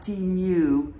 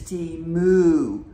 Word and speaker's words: Temu: was saying it wrong it's not Team U it's t moo moo like a cow so I'm practicing saying